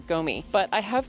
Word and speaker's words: gumi: I think it's pronounced gumi. It's either gumi or gomi, but I have 2 of them, 2 different varieties that I found highly recommended.